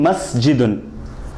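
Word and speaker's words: مَسْجِدٌ: For example, in masjidun, mim has a fatha on top of it, so we say ma, and jim has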